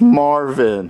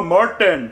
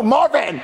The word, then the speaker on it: Marvin: your name please sir it's Marvin Oh Martin no Marvin Martin no Marvin I'll spell